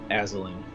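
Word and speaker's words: Azalin: was the witch's name that you slept there aslin as a liner x you spell that a-z-a-l-i-n rex rex do we have to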